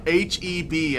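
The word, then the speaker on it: H-E-B: It's pronounced HEB, okay.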